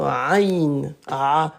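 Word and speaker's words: ع: Allez 93 c'est la ain cette lettre là c'est la lettre ain elle est pas facile à prononcer comme ça. Voyez comment j'ai fait ? Hop, je monte, je recule, je redescends.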